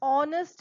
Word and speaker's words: honest: horner instead of that h is silent over here you start with the vowel sound in this case we